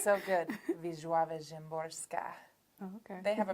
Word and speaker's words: Wisława Szymborska: And so Pablo Neruda, Sandra Cisneros, most especially Wisława Szymborska, who's a Polish poet. say that again. It's so good. Wisława Szymborska.